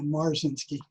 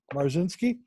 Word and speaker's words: Marzinsky: my guest is Burzynski the how you pronounce it yeah marcin ski mars in ski Mars in ski and he is the